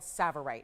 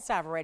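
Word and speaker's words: tsavorite: It's actually a more rare variety of a green stone called savverite. It's called savverite. It's spelled with a T. The T is silent. It's a savverite garnet.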